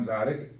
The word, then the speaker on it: Dziadyk: my name is John Tzadik first of all the last names hard to pronounce expecting to see this for a second there Franklin it's a silent deed but the main point